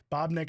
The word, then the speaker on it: Babnik: Bobnick is spelled Babnik.